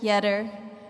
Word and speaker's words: Yedder: andrish Joseph Patrick yedder rhymes with better this gentleman has not